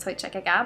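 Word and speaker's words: Toiteach a Dhà: two in scott scallock i think it's pronounced toy chicaga but you'll probably hear a lot of different versions of it um because it is a bit of a tricky one so let's start with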